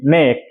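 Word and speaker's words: knee: কে নেক দেখো কে এন এ সি কে নেক মানে এখানে কে উচ্চারণ হয়নি কে এন ডবলই নি এখানে কে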